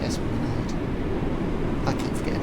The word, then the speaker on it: Esplanade: And that's how you say it, Esplanade.